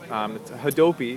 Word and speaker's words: Hadopi: now for years over a law, and there's Hadopi is how you say it, and it's both a law and a government agency.